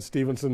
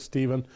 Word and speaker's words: Steven: Sharp-eared people will have noticed a couple of times I've said his name wrong. I've said Stevenson. It is Chris Steven of the New Democratic Party, and we're watching the votes come in.